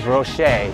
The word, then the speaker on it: Roche: so get it right it's roche like french it's not roach let's go i should